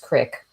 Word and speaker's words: creek: stream of the kind the locals called a creek and pronounced crick and decided to follow